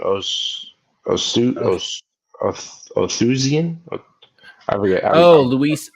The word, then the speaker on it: Oosthuizen: Oh, Othusian? I forget. Luis Oosthuizen.